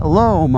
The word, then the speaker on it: loam: And um it said uh sand, mulch, and lom on the side.